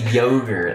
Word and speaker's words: yogurt: It's so funny because you say yogurt and to us that sounds like ridiculous. Yeah, but Irish people say it too. Irish people say yogurt. Yeah. 2 against 1. We win. Yogurt.